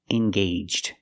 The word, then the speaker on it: engaged: engaged to be married the AG makes a long a sound engaged let's practice are they